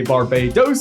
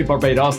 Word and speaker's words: Barbados: this island can vary some people say Barbados and some say Barbados depending on where you come from this island is considered